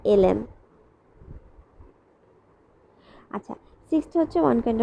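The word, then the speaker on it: ln: A plus ddx অফ, আমি কিন্তু প্রতিবার লন উচ্চারণ করছি তবে এটার অ্যাকুরেট উচ্চারণটা হচ্ছে এলএন।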